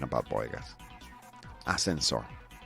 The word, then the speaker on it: ascensor: Ascensor. Is it pronounced well? Ascensor. Oh, ascensor. Ascensor. Ascensor. Okay, whatever. Todo seguido. People would have understood me. Ascensor. Ascensor. Very good.